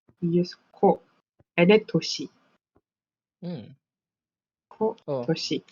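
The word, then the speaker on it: 年: We use ko and then toshi.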